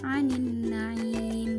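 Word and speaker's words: عَنِ النَّعِيمِ: anin naim di sini alif lamnya dibaca tidak jelas karena apa? Alif lam di sana bertemu dengan salah satu huruf asyamsiyah yaitu nun, maka dibacanya anin naim.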